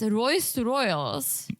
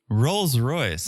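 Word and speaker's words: Rolls-Royce: So they get in this Royce Royals. Oh, No? not even close. So you said. Rolls Royce.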